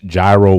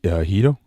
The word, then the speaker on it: gyro: It's definitely I pronounce gyro wrong. I know it's Hito, right?